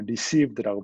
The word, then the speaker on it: RSCBD: 그래서 지금은 그냥 received라고 발음을 하고 있습니다.